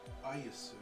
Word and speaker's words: Ayusu: Special A is Aya. Usu. Aya us. But it's spelled Ayus. You're telling me that it's pronounced Ayusu? Yeah. I directly translated the Romaji of it.